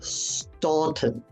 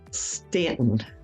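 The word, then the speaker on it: Staunton: Stanton Stanton a lot of people will say Stanton it's it again so it's Stanton going over to Stanton um there's a story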